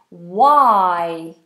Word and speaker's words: why: the very important question why why of course this is a silent h so we just have a w why why are